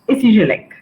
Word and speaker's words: ESIGELEC: The original name is a long one, but right now the school goes by its abbreviation and it's pronounced SCGLEC.